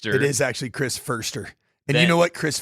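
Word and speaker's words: Foerster: So, 49ers assistant head coach Chris Forester will take over the primary responsibilities while Shanny heals.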